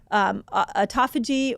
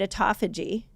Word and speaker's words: autophagy: People either call it autophagy or Autophagy. autophagy. People say it different. You can tell me I said it wrong. I kind of landed on autophagy. I feel like Autophagy. autophagy is the best way to say it.